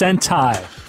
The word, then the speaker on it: Sentai: it's Super Sentai, pronounced Sentai.